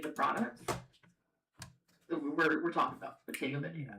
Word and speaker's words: Bottega Veneta: Next up, we have Bottega Veneta. And they actually did give me like the phonetic pronunciation for this one, so I know I'm